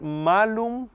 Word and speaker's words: malum: interpretaban por cuenta propia en lugar de leer malum con la a larga ma eh la leyeron como si la a fuera corta en la pronunciación era malum y malum significa manzana pero maum significa malo y